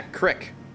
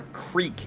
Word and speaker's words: crick: Yeah, crick. Or a creek, if you prefer. That Midwest pronunciation.